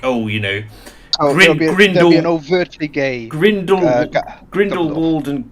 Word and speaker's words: Grindelwald: i've destroyed worked out grindel is that how it's pronounced grindelwald yes why oh it's just because you know the place name is actually called grindelwald so so i got